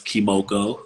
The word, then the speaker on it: Kemoko: make sure you pronounce their name right. My name's Kemoko, My so no, it's all good.